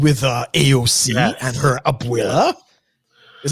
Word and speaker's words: abuela: hear what happened with uh aoc and her abuela is how you pronounce it abuela abuela so abuela's meaning is